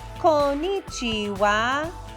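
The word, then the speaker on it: こんにちは: you try good job don't forget there are four sounds konichiwa konichiwa now you try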